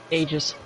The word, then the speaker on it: Aegis: Aegis. Aegis. Because it comes from the Greek for protection. 二人とも戻ってきてたのか。